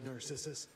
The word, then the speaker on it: Narcissus: The Narcissus. Narcissus, that's how you pronounce it.